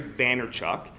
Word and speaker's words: Vaynerchuk: His name is Gary Vaynerchuk. And Gary, his last name is Vayer. Vayner. Hold on, I gotta spell it out.